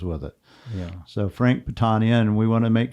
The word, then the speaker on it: Patania: It's Patania, not Patania. We used to say Patania was my daughter Nancy, who became a civil engineer that wanted to go back to the traditional pronunciation.